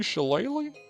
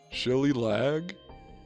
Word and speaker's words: shillelagh: The ancient Dooley shillelagh? The shilly-lag? Okay, I said it right.